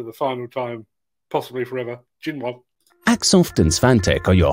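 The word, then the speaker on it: Xinyuan: As far as I'm aware, the Jinwan brand is not actually, it's X-I-N-Y-U-A-N, and the guy at my local Chinese restaurant assures me it's pronounced Jinwan.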